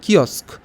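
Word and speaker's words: kiosk: কি বলে vendor podium stand নাকি কিস্ক এটার উচ্চারণটা হবে কিস্ক তো বলো সেটাকে কি বলে ভেন্ডর পোডিয়াম স্ট্যান্ড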